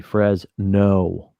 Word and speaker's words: Fresno: You have to emphasize or put emphasis on the Frez. No.